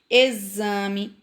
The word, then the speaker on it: exame: Exame, exato, exército e exercício. E exemplo, certo? Então, todas essas palavrinhas aí são escritas com X e tem o som de Z na sua pronúncia.